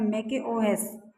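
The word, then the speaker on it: macOS: इसका उच्चारण है मैकओएस।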